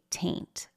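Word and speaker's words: Taynt: So one of these jokes is that for The Amanda Show, Amanda plays a character named Penelope Taint, T-A-Y-N-T, but of course it sounds like the word taint, okay?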